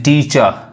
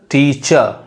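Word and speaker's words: teacher: यानी टीचर, देखिए र नहीं पढ़ाएगा, टीचर जनरली लोग बोलते हैं, लेकिन जो असल जो उसका उच्चारण है वो क्या पढ़ाएगा, टीचर।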